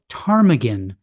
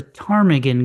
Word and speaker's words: ptarmigan: Have you ever heard a ptarmigan go to the bathroom? No, because the P is silent. That's probably would be funny if you knew that the word ptarmigan begins with P.